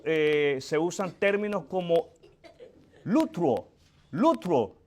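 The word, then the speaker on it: λυτρόω: Eh se usan términos como lutro. Lutro. L U T R O con acento en la última o.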